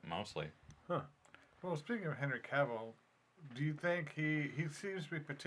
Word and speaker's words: Cavill: Cavill, yeah.